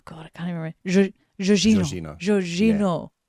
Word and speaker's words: Jorginho: to me, it's Jorginho. No. But if I do it by how the YouTube told me to do it, it's, oh God, I can't even remember. Jorginho. Jorginho.